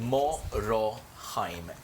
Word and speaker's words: Moroheim: So say his name very slowly for Mo Roheim. H E I M. Morohheim.